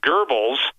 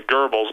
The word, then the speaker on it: Goebbels: critical remember this that goebbels or some people pronounce it devils but i pronounce the gerbils oe with the umlauts uh and i'm probably